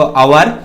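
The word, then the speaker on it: hour: तो देखिए यहां पर एच साइलेंट है, यहां बोलेंगे इसको अवर, यहां भी एच साइलेंट है, इसको बोलेंगे क्या, ऑनेस्ट।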